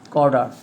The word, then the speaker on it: Cawdor: Cawdor. Actually, the pronunciation is Cawdor.